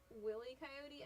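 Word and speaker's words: Wile E. Coyote: Who else pronounced it Willie Coyote as a kid? If you did, you were correct and probably cool. It was wy coyote when I watched it as a kid, but I wasn't that generation.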